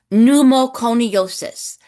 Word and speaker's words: pneumoconiosis: Pneumoconiosis p e u m o c o n i o s i s pneumoconiosis. Okay. So, you notice there's a silent p n e u c